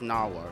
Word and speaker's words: Nahvalur: It's Icelandic for Nahvalur, and we still pronounce it as Nahvalur.